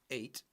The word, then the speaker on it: ate: Eat, ate, pronunciation, the same as the number 8, ate.